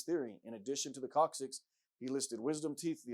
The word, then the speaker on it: coccyx: For example, the human coccyx, pronounced coccyx, called the tailbone, is supposed to be left over from when man was an ape and swung from trees.